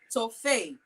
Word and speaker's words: Toffey: TOFFEY is TOFFEY. Am I pronouncing that right? TOFFEY. Like toffee? TOFFEY. TOFFEY. Yes, you got it.